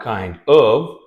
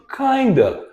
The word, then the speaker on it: kind of: Now kind of, kinda. But sometimes it's pronounced as kind of.